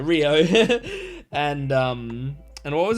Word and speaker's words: Riyo: I mean, mostly the uh mostly Kio, not Kio, Rio.